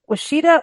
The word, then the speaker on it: Washita: Is it Washita or Wichita?